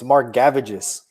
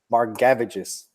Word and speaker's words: Margevicius: So real quick, bro, while you were talking, I had to Google how to pronounce this guy's name. It's Margevicius. Margevicius. Okay. Margevicius.